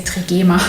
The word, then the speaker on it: Trigema: I should probably say Trigema. That's how you pronounce it here in Germany. It sounds a bit odd in English.